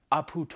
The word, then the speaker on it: Aputure: word aperture it's actually a French company it's pronounced op hoot or alright first look there's a lot